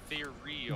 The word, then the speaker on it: ethereal: Ethereal. There is a section of the level that's gonna have water, so you're Ethereal? still gonna have a section. Leaf, you said It's pronounced ethereal. It's ethereal, like ITH.